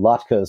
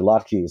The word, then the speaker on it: latkes: And then some latkes or latkes, apparently they're both correct pronunciations, made from wild parsnip